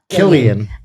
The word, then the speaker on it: Cillian: Cillian Murphy as Killian. Killian. He's Irish. Yeah. Killian. Yeah. Killian. Yeah, it's a hard C.